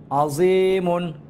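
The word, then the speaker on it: عَظِيمٌ: আইন জবর আ, জয় ইয়াজে জি, আজি, মিম দুই পেশ মুন, আজিমুন।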